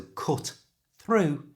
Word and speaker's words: cut through: Because the first word cut ends in a t sound, a consonant sound, and the through starts with a t sound, we don't need to pronounce the first one. So cut through becomes cut through. And at a normal speed, cut through. It should sound like one word.